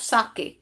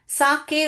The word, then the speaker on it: साके: सो ह father wish for अ कप ऑफ़ साके। साके उसको pronounce करते हैं। बेटा इसको सेक नहीं पड़ते हैं बेटा। साके पढ़ते हैं।